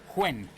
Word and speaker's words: Nguyen: worked with somebody from Vietnam who said you pronounce it quen ah you do quen yes but it's it's